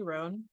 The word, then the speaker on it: Roan: to bring to you my new friend ran did I pronounce that correctly ran yes you did okay great yeah I was